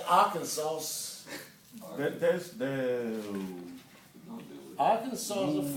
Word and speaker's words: Arkansas: It is Arkansas. It is Arkansas. There's a pronunciation Arkansas rather than Arkansas.